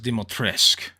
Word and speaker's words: Dimitrescu: that lady dimitrescue also it's pronounced dimotrisk mommy by the